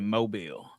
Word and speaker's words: Mobile: So the pronunciation is actually Mobile. Yeah, Mobile, Mobile. Alabama.